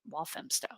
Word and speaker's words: Walthamstow: I appreciate oh hmm pronounced wolf and walthamstow I don't know why